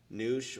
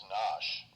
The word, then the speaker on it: Nosh: It's Nosh, not Noosh.